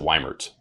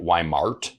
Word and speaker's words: Weimert: I pronounce it Weimert. Weimert. Yeah, okay. Weimert. But I get Weimart. Yeah. Often. Los still fucking calls me Weimart.